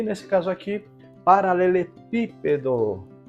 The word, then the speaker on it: paralelepípedo: e nesse caso aqui paralelepípedo coma cab tônica exatamente o pi então recebe assento gráfico